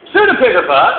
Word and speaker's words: pseudepigrapha: Pseudepigrapha is spelled with a P, P-S-E-U-D-E, pseudepigrapha, and we were told that that means a false writing, which is fair enough.